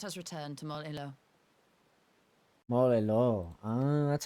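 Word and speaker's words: Mol Iloh: Molelo.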